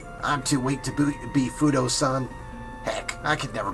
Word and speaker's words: Fudoh: I always pronounce it as Fudoh, but no, it's Fudoh.